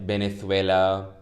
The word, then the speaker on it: Venezuela: disguise so it's like venezuela it's like it's pronounced with a b but we use it with a v and that's because this